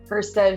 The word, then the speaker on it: Hustead: I'm here today with my really good friend, Kristen Hustead, who is, I say it right?